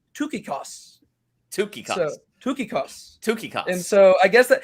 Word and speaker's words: Tychicus: look it up and in greek it's pronounced tookikos and so i guess